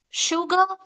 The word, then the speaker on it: sugar: Sha, she ship sugar. Did you see here s u g a r? I'm pronouncing it as sugar but not sugar. It's not sugar, right? It's sha sound.